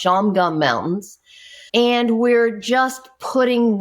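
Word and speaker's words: Shawangunk: They're not they're not spelled like that, but they're pronounced Shamgum Mountains.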